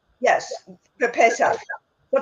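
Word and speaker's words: פסח: Pesach? Yes. For Pesach. For Pesach is Yiddish for or Hebrew for Passover.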